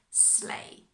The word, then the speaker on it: sleigh: reindeer with the sleigh that's actually quite tricky pronunciation completely different from the spelling sleigh okay so they don't